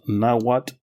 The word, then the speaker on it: Nahuatl: The nations of this area spoke a common language family called Nahuatl, pronounced Nahuatl, which translates to four waters.